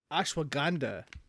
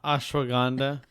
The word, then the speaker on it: ashwagandha: It's ASH, ash, and then WAG, wag, and then anda, ANDHA. Oh, so ashwagandha with a G. It's like Wakanda with a G, but also with an H.